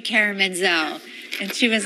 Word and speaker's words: Menzel: stage name, I thought Menzel would be pronounced easier than the T. Plus, it was people would say Menzel, like mental and pencil.